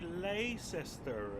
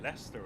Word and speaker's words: Leicester: about the pronunciation because he was like how do I say lay cester and low bro no no it's Loughborough and Leicester and Derby not Derby